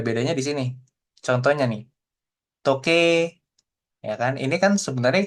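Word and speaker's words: とけい: Pakai i belakangnya. Tapi kalau dibaca, kita lafalkan seperti itu ya. Dia bacanya toke gitu ya, seperti itu ya. Toke. Jadi i-nya nggak ada, nggak kebaca.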